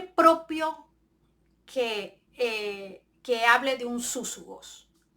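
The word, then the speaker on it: σύζυγος: Súsugos, que es la palabra que se usa para compañero en este verso de Filipenses 4:3. La pronunciación es súsugo y la derivación viene del 4801 del Strong, ¿verdad?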